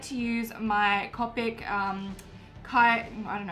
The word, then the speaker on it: Copic: like to use my Copic kite know how to pronounce it it's Copic marker and this has got